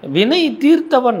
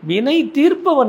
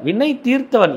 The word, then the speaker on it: வினை தீர்த்தவன்: வினை தீர்த்தவன் தமிழ்ல ரொம்ப உச்சரிப்பை கவனிக்கணும். வினை தீர்ப்பவன் அல்ல, வினை தீர்த்தவன்.